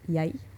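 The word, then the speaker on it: jeg: or maybe like first the standardized word is yay and the pronunciation can vary a little bit but it's spelled yeg this is like j-e-g okay um but so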